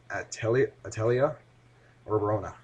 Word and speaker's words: Atelier Rorona: Uh, Here's the real pronunciation, I guess. Atelier Rorona. Yeah, whatever. It's basically French writing, but it's most of these games are from Japan.